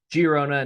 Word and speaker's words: Girona: appreciate that a lot giarona not the g as an h in spain as i like to pronounce names and cities of or towns as correctly as possible giarona hosting viado lead girona